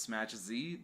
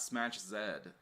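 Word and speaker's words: Smach Z: of that i know the correct way to say it is smash z not smash zed thanks to the support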